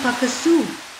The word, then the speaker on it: Pukaskwa: the Boreal forest oju and cre Nations maintain pakaso as the correct pronunciation and the word describes what what people